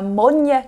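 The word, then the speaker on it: Moine: So if you see a Bunnahabhain whiskey out there that's got the word Monya written on it, it's spelled M-O-I-N-E. That is Gaelic for peat.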